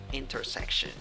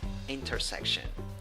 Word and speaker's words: intersection: a weak i then even though you write it with e in the second syllable the pronunciation is with schwa and well in the